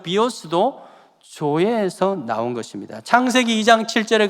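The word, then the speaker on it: ζωή: 조에. Z 발음을 할 때는요, 조 이러면 J이고요, Z 발음은요, 조에.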